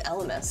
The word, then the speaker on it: Elemis: This is Elemis.